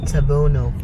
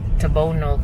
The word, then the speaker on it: Tabunok: the tabunok public market Google will pronounce it it's tabono tabono but this is for our local dialect so now to see